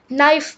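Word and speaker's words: knife: हम बोलते नहीं है यह नाइफ बोला जाता है नाइफ नहीं के के आवाज को हम बोलते नहीं है राइट एन एसे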